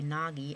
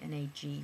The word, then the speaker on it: Nagy: Look, sometimes they'll say Nagy, N-A-G-Y, but that's not how you pronounce it.